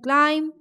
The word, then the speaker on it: climb: So B in climb, B in dumb, B in calm, and B in numb. Everywhere B is silent.